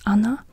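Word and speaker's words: она: actually quite often also when you say she that's Anna but it's not written like Anna with two A's but it's written like Ona literally so you write it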